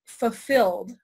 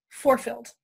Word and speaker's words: fulfilled: not spell the word fulfilled for the longest time because I pronounce it forefilled so I would always